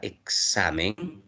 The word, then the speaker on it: examen: Entonces, en la palabra examen, la sílaba que tiene mayor fuerza de voz es sa.